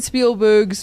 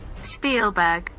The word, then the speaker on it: Spielberg: musical, and then in 2021 they released Steven Spielberg's reimagination. Don't know what word I was just about to say. This is Ryan playing the pronunciation of his name. Spielberg.